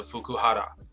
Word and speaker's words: Fukuhara: to staying in hotel with another man，所以他承认了在旅馆里跟另外一个男人。那我们这边就看到下面一个小标题 Fukuhara 这边应该日本的发音应该是把 R 直接发成 L 的音，所以我相信他的名字应该就是 Fukuhara。